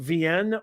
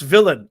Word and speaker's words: Villain: 1 if it's pronounced VN or a 2 if it's pronounced villain. Give me a 1 VN if it's with the L's are silent. Give me a 2 if it's villain, please.